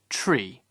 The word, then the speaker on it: three: one one two two three is pronounced tree four should be pronounced